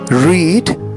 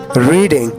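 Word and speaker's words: read: रीड rate rate रीडिंग दोस्तों रीड कहते हैं पढ़ने को और इसकी सेकंड फॉर्म और थर्ड फॉर्म इसको लिखा रीड ही जाता है आर ई ए डी लेकिन इसे हम पढ़ेंगे रेड क्या पढ़ेंगे रेड सेकंड फॉर्म और थर्ड फॉर्म लिखा इसे रीड जाता है लेकिन इसे हम पढ़ते रेड है लिखना राइट रोट रिटन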